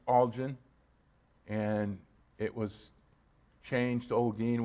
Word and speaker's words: Olguin: and it was changed olgin which is the spanish version and since my father